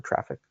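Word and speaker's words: Traefik: the default ingress or traffic? Traffic. Yeah, I know they spell it funny, but it's just pronounced traffic.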